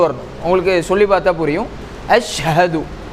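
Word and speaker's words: أشهد: அஷஹது அஷஹது அப்போ அலிபோடிய பொறுத்தவரைக்கும் ஐன் சவுண்ட் வந்துரக்கூடாது. அடுத்த ஷீனு நல்லா கெட்டியான முறையில ஒரு டாட் வச்சு நம்ம கொண்டு போகணும். ஹாவ பொறுத்தவரைக்கும் வெயிட்டினுடைய பகுதியில இருந்து கொண்டு வரணும். இதான் இதனுடைய உச்சரிப்பு அஷஹது அதே மாதிரி தால் ஒவ்வொரு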